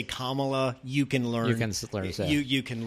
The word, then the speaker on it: Kamala: be disrespectful if I can learn to say Kamala you can learn you can learn you you